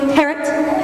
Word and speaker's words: Harriet: Harriet rhymes with Harriet. I'm sorry? It's pronounced Harriet. The I is silent.